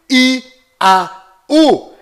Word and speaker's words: יהו: Toda vez que estas três letras hebraicas, nesta sequência, estão fazendo referência ao Altíssimo, a sua pronúncia dentro de Israel é sempre I-A-U, Iau.